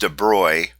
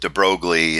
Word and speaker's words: de Broglie: but I'm told that his name should be pronounced Dubrow but the physics professor that I had when